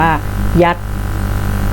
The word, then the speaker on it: 一: อ่ะ ตัว เล็ก 1 ภาษา ของ ตู้ จะ อ่าน ว่า ยัต ยัต ยัต ยัต ก็ คือ